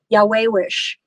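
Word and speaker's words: yayawish: for beauty and it's um the word is pronounced it's um spelled Y A Y A W I SH Yahwehish and what it means is it means beauty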